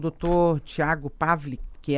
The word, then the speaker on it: Pawlick: Então tá certo, conversei com o doutor Tiago Pavlik, que é advogado previdenciário. A gente acha o senhor aonde? Nas redes sociais? Perfeito. Como, aliás? Né? Perfeito. O meu Instagram é Tiago Pavlik. Pavlik.